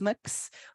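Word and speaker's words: Mx: heard uh a non-binary person whose title is mix mix uh that's me uh so I'm a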